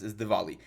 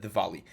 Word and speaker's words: Diwali: The correct pronunciation is Diwali. I know that we have the W, but you should pronounce it Diwali.